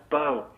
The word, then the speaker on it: Bo: It's not Boo, man. Every time I call up, they get my name wrong. Yeah, what's your Oh, name? no. Am I on? Yeah, Yes. you're on. Hey, guys, Bo.